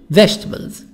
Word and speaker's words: vegetables: E silent, vegetables. E silent.